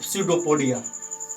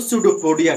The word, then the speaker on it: pseudopodia: Spelling, तो इसका जो पी से शुरू होता है लेकिन पी साइलेंट हो जाता है, PSEUDOPODIA, ये होता है स्यूडोपोडिया का।